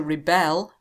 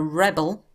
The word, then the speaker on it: rebel: So we pronounce these differently. To rebel. A rebel.